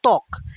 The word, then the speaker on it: ত্বক: আদ্য বফলা অনুচ্চারিত থাকে। আদ্য মানে কি? মানে শুরুতে। শুরুতে যদি বফলা থাকে সেটা উচ্চারিত হয় না। যেমন ত্বক, এখানে কি ত্বকের শুরুতেই বফলা আছে না?